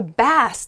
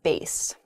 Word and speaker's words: bass: say oh hey i hope i catch a bass today if you're a musically inclined person you might say my favorite instrument is the bass great those were pretty good uh next is